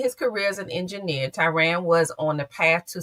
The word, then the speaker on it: Tiran: Tyran, am I saying it correctly? Good evening. Good evening. Hey, how you doing? You are Tyran.